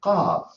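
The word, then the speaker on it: قاف: We call it Qaf. That's the name of the letter, Qaf. But I want to pronounce it I use the same tool or the same letters.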